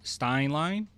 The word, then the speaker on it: Stein Line: So, we got this report and this is from Stein Line.